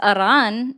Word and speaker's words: Iran: Iran, is that me doing it with a Spanish accent, or am I just rolling my R's? Why would you roll your R for Iran? Because Iran is the correct pronunciation.